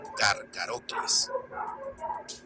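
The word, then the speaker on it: Carcharocles: Pero en latín se sustituye ese sonido por el de una K, de tal forma que sonaría como Carcarocles.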